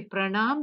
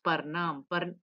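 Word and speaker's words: परनाम: See, pranam becomes parnam.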